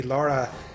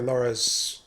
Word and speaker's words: Lara: uh like right after Laura's uh or Lara apparently it's Lara not Laura which is whatever I've